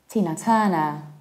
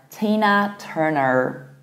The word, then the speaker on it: Tina Turner: Tina Turner. And in the American accent, you will pronounce it like Tina Turner with a very colored R. Tina Turner.